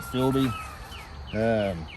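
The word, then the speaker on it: FILBE: Marine Corps Philby pack, the F-I-L-B-E, I guess you pronounce it Philby pack.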